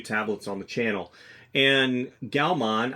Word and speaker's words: Gaomon: on the channel and galman I think that's how you pronounce it galman g a o m o n or Gan galman